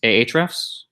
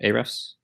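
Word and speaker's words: Ahrefs: for this exercise is a href or a dress or href however you want to pronounce it semantic IO that's one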